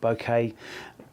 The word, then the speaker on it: bokeh: the what people call bokeh bouquet people pronounce it different ways but nevermind it's the